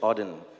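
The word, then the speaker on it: Auden: So So it's a part of a poem from WH Odin. That's how you pronounce it.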